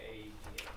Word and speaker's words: AEDA: Once again, AEDA, is that how you guys say it, or do you pronounce it? Yeah, You have it right. You say AEDA.